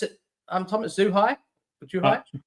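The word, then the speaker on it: Zhuhai: Um, how do you pronounce it? Um, Thomas Zuhai or Juhai. Juhai.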